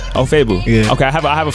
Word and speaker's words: Ofoegbu: It's Ofoegbu. Ofoegbu? Yeah, G silent. Ofoegbu.